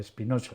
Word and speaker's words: Spinoza: Hay que pronunciarlo a la española, Spinoza.